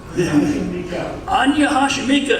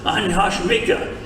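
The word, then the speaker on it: 안녕하십니까: Anya Hashimika is the formal land, the formal word, Anya Hashimika.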